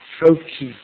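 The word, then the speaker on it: FOCJ: berar has already mentioned I call it froi so that's the way I pronounce it I would like to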